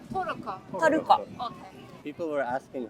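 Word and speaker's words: トルコ: Toruko. Toroko.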